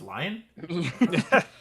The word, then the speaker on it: Leanne: l-e-a-n-n-e type thing yeah that's lion her name is pronounced lion that's sick man i